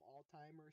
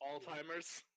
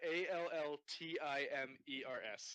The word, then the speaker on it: Alzheimer's: And it's, Alzheimer's. Is that what it's not called? Alzheimer's. Did you just call it Alzheimer's? What's it called? It's a Like Alzheimer's. I heard ALLTIMERS. That's Well, what he said. I pronounced it that way, but that's not how